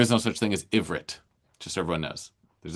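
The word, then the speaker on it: עברית: Hebrew doesn't have a short I vowel. So you can only say ivrit.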